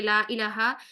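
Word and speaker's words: لا إله: रही है हां जी ला इलाहा इल्लल्लाह बकला हमने नोट किया था कि ला इलाहा पढ़ेंगे और लाइलाहा नहीं पढ़ेंगे जैसे हम ठीक है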